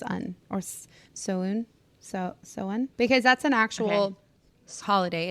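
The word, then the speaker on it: Samhuinn: also is it Sam huan or is it Sam Hayne also I think that I think it's Sam Huen I have my Kindle behind you if you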